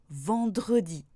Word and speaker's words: vendredi: Mais attention, pour certains mots dont la prononciation ne serait pas possible sans le E, même à partir de la deuxième syllabe, je dois le prononcer. Par exemple, mercredi ou vendredi.